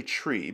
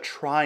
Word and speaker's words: trie: the pronunciation thing first it's based on retrieval so the pronunciation is technically tree but that's confusing right many people call it a try instead and to prevent